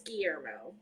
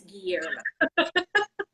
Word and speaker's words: Guillermo: Del Toro I got, but I can't say his first name. It's Guillermo. Guillermo? I'm Spanish in my other life. It's Guillermo. I am not.